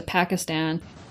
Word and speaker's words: Pakistan: brought up um uh Obama and Pakistan as opposed to Pakistan I am Gravely concerned about the situation in Pakistan I don't hear that very often in the United States that pronunciation um it's very rare